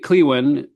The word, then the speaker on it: Klewin: Is it Khloen or is my Clewin? Clewin the preferred pronunciation.